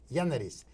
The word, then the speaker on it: Giannaris: so i want to introduce to you george gianaris but haiti pronounced in greek henries janaris okay janaris call you gianaris okay george it